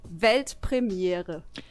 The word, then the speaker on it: Weltpremiere: It's actually Weltpremiere. Oh mein Gott. Pretty similar, right? I think I could do that. yeah, do it. Es war Weltpremiere.